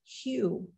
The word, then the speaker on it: Hu: ancient name for God it's spelled h-u and pronounced q and I began to